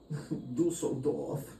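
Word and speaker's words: Düsseldorf: Dusseldorf.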